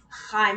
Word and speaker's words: Chaim: In Hebrew, it's technically Chaim.